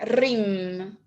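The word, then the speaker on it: Hrim: RIM. Ajá. Es la sílaba que quita el velo de la ilusión.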